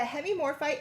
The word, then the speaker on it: hemimorphite: Okay, so we only have 10 of these, and these are going to be our oval cabochons Hemimorphite.